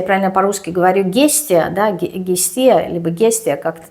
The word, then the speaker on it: Гестия: я правильно по-русски говорю, Гестия, да, Гестия, либо Гестия, как-то так. Но если я правильно ее произношу по-русски, по-гречески это богиня Истия.